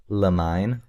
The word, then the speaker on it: Limine: L Did anybody Does anybody know how to pronounce it? Lamine. Lem. I think it's lamine. I've been saying lamine.